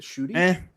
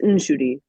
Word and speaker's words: Nshudi: I don't think that's how you pronounce his name. I think it's Is it Shooty? It's Nshudi. Nshudi?